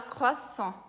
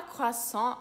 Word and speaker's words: croissant: A primeira palavra é a palavra croissant, que em francês a gente fala croissant. Na palavra croissant, a gente tem o R francês, que é aquele arranhado na garganta, e quando está no